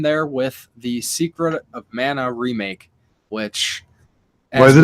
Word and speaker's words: mana: It's actually mana. I've seen people specifically like making posts like, you guys are all pronouncing it wrong. But you know what? If you play the game, they say mana in the game.